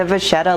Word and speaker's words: Vachetta: do not treat the vachetta leather. Vachetta is the way you pronounce it in French, by the way, you guys.